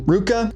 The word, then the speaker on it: RVCA: And they got the VA from Ruka, which that's how you pronounce that RVCA brand.